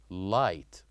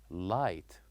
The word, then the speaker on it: light: other example we learned last time which is light light so here we wrote l i g h and T so here we wrote G and Ed but we don't pronounce it we say light and another word which is knife so here